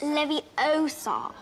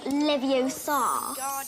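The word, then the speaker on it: Leviosa: you're saying it wrong it's Levy Oar not levio it should be noted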